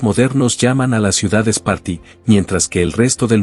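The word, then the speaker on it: Σπάρτη: Es interesante que en el griego moderno tanto el nombre de la ciudad como el del fundador mítico se pronuncian casi igual, Esparti.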